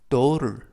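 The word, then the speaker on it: daughter: h 가 모음이 되겠는데요 딘은 그 au 는 이중 모음 5 5 그리고 쥐 h 는 묵음 튀는 트 이 알은 이중모음 얼 그래서 또 턴을 이지만 연음 에 의해서 떠오를 떠오를 이라고 발음합니다 뜻은 딸 이라는 뜻이고요 then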